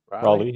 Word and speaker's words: Raleigh: Sorry, Raleigh was my first. Am I pronouncing that correctly? Raleigh, yeah. Just like North Carolina.